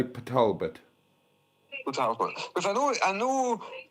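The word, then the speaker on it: Port Talbot: Um Port Talbbert is not pronounced Port Talbbert. I know that but I'm not sure what it is in Welsh. What is it in Welsh? Um we say Patalbert because I know I know car is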